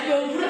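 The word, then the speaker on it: Daud Beureu'eh: Bahasa Aceh itu ya bacanya Daud Buru.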